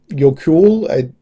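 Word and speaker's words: Jökull: Yokull, it's Jokull with an umlaut over the O.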